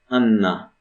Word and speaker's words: Anna: You'd say Anna in English, but Polish, whenever there's a double consonant, we pronounce them both. Anny, Anna.